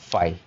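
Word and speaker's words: phi: Fine. उसके बाद आता है फाई। ठीक है? बहुत सारे लोग इसको फी भी कहेंगे। बट वी can call it फाई।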